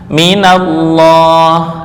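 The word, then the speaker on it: مِنَ اللَّهِ: Min dan ditambah dengan lafal Allah. Min, terus Allah. Ini berdiri panjang Allahi. Nah, ini berhubung di sini sukun, ini juga sukun ya. Ini sukun. sukun. Karena mati dua-duanya, maka harus diberikan harakat penolong. Apa harakat penolong? Harakat penolong dalam hal ini adalah fathah. Minallah asalnya adalah sukun.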